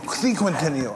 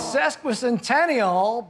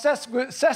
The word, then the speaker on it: sesquicentennial: No, I think it's sesquicentennial, but you didn't spell it correctly there. What did I do? You got it wrong. That's what you did. I spelled sequential. Oh, I'm sorry. Well, it's sesquicentennial.